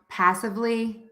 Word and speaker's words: passively: Passively. Passively. Okay, awesome. How did you do? All right, so again, the rule is we're going to stress syllable number 1 in words ending in ER and LY.